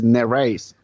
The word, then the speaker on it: Nereis: at it I thought gosh how do I pronounce this but now I know so there you go so this is naras naras okay how big a